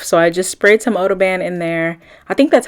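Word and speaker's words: OdoBan: I just sprayed some oo band in there I think that's how you say it it's like odor band but Odo ban that's how it's spelled anyway I just recently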